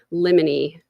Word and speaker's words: limine: It's pronounced limine.